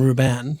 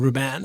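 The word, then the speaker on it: Rúben: into having stones and Ruben in my team yeah um I've been cut I've liked that more I love how you say Ruben by the way well there's an accent on the you so I want to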